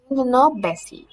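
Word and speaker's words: tendinopathy: هقول لك نطقها بالظبط عشان لازم تبقى عارف النطق بالظبط. تندونوباسي، تندونوباسي يا جماعه.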